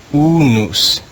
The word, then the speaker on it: unus: The next word in the green row is unus.